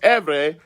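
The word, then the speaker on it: עברי: The name Ivri, pronounced Erverh, translated into Latin, became Hebraikus.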